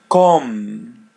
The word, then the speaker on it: com: Come. com. Yeah, the letter M is pronounced as English M.